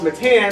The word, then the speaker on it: Mittan: My name is pronounced Mittan, sort of like a mitt, like a glove, and then tan, like you get outside in the sun.